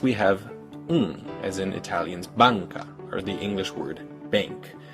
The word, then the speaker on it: banca: Next, we have as in Italian's banca, or the English word bank. This is an N, but it's pronounced with the back of your tongue instead of with the front.